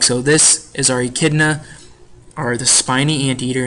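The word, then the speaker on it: echidna: spiny ante eaters or e kidas so you pronounce this word idna and these animals are only found in Australia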